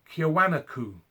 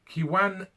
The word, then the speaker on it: Kiwanuka: Michael Kiwanaku. No. Kiwanuka.